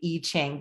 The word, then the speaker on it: I Ching: from the ancient oracle called the e-chain but it's spelled i ching and then they also